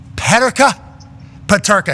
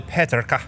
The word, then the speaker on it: Peterka: Actually, where he comes from, it's probably Peterka. Yeah, I was trying to just be as cultured as I possibly could. Sure. He's from Germany. Peterka.